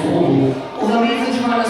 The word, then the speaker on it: Warble: However, here in the UK, we're just calling this Warble, because that's pretty much how it looks, so we just say Warble. Although even trying to say Warble, sometimes I get a little bit complicated.